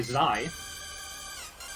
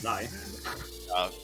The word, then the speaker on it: xi: We have White Peak by Zai. That's how it's pronounced, actually. It's Zai.